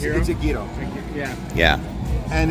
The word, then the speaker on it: gyro: Yeah, so it's gyro, right? It's gyro, not hero.